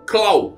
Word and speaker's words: Clover: o n no final em japonês o nome de Cesar se pronuncia x caum e do Clover caau sem o n que na nossa língua ficaria como Clau c l o w sim Clau de